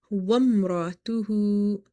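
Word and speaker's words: وامرأته: Next word is wamratuhu. Wamratuhu. Never read it wa'am because alif is not functional here. Waw is directly connected with this meme. So we will say wam, not wa'am.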